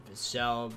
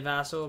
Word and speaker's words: Vassell: I feel like some people say Vassell. You could say Vassell, but I'm pretty sure it's Vassell.